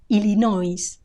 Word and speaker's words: Illinois: in Spanish illino illino notice the final s it's not silent Illinois Illinois also notice the stress illino it's on the o Illinois Illinois Minnesota Minnesota